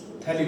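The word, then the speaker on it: phthalic: थैलिक acid, इसमें आपका pH silent रहता है, PHTH, थैलिक एसिड।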